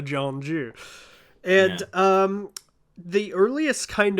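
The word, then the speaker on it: 전주: In Donzu, in North Dollar. Thank you. Yeah. My pronunciation was so bad that I wasn't gonna murder Taeyong's. Janju and North Sure, Dollar. yeah, North Jeolla, Jeonju.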